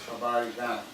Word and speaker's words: Habari Gani: So to each other, when we're in a community that celebrates Kwanzaa, it is Habari Gani. Pronounce that with me, Habari.